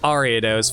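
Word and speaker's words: Ariados: Box you go arados so you pronounce it like arados fair enough you know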